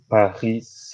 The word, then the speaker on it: Paris: So I studied at maybe, mhm, Université Paris Saclay. okay, yeah. I really Université like how you Paris.